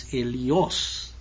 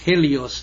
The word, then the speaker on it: Helios: And the ancient Greek name for the sun god is Helios. You see, the H, Helios, the H is not pronounced in Greek.